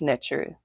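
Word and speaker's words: Neter: Ntr, N-E-T-E-R, is pronounced Ntr, is the absolute reality which lies beyond time and space.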